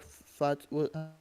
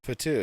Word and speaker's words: Fatu: you had uh Jacob fat pronounce his last name fat Fatu yeah yeah he yeah